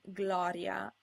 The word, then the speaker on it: gloria: Also, G is occasionally followed by an L without an I, and if there's no I, the G is pronounced G, as in gloria.